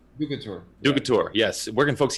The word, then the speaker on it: DUCATUR: Sorry, I'm going to pronounce it wrong. DUCATUR.